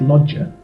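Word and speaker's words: Loggia: that I've picked are Robert logier um that's how I say it but I believe that in Italian it's lodger so um so Robert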